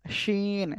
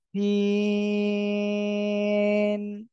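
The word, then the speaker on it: سين: কিন্তু অনেকের ভুল হয়েছে অনেকে বলতেছেন শিন শাসা শব্দ করে কিন্তু এ অক্ষর কিন্তু শাসা শব্দ করে উচ্চারণ হবে না এ অক্ষরটা উচ্চারণ হবে কেমন জানেন এ অক্ষরটা উচ্চারণ হবে হলো আমি বলছি একটু খেয়াল করেন এই যে আওয়াজটা আপনারা শুনতে পাচ্ছেন সিন সবাই একসাথে বলেন সিন একসাথে সবাই সবাই মাশাল্লাহ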